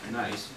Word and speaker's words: gneiss: run very nice and gneiss is pronounced nice and it is this